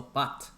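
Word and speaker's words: בַּת: If you look at the daughter, the Hebrew word is the bat. That's the pronunciation.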